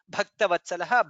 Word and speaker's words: भक्तवत्सलः: In the second line lokabandhuhu dha is mahaprana, lokanathaha dha is mahaprana, madhavaha dha is mahaprana, bhaktavatsalaha bha is mahaprana.